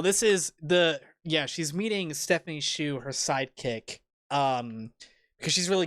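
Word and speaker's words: Hsu: Is it Shu?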